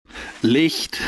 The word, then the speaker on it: Licht: Licht. It's German. Hi, folks. Licht. And so you spell that L-I-C-H-T, so... It's Licht. But no problem, Licht. Everybody says Licht anyway.